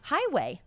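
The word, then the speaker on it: Heighway: Highway. But it's spelled with like E-I-G-H. But that's how you say it?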